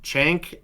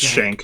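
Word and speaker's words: Schenk: Before Before you start, I'm going to correct you. It's Officer Shank. It's pronounced Shank.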